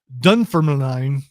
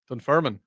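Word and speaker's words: Dunfermline: Scotland's Dun Ferman. Dunfirman. Dun Ferman. Yeah. It looks like there's an L in there. Yeah. Yeah, there is. So, the L is silent.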